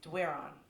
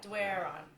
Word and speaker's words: Doiron: Well, the way we grew up saying it in Moncton was Doiron. Yeah. That's what I have trouble with. Yeah, Doiron.